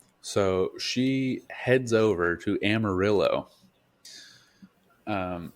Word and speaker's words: Amarillo: over to Amarillo um am I saying that right Amarillo I assume it's Amarillo yeah yeah it is it actually yeah it's Amarillo there's a lot of like Spanish words in Texas that you pronounce like a white person because yeah yeah it's